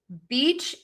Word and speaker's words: beach: And the reason is is because your lips close for that B sound. And so for a lot of people, it's really difficult to move from that sound to wide open for that long e.